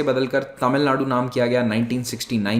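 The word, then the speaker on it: தமிழ்நாடு: राज्य को बोलते हैं तमिलनाडु, लेकिन एक्चुअली में इसका जो प्रोनाउंसिएशन है वो तमिलनाडु होता है।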